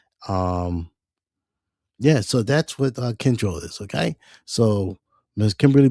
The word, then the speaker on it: Kyndryl: Okay, the company that she works for, Kyndryl, um, it's got a weird name. So what it means is kin is spelled Kyndryl, Kyndryl. So kin means kinship, of course, and drill means tendril.